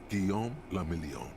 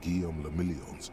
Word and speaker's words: Guillaume le Million: Guillaume le Million. Damn. Damn. If it doesn't rhyme, you're not pronouncing it right.